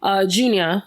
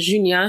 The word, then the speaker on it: Junia: Junia is the American pronunciation, but Junia, she passed away when she was 34.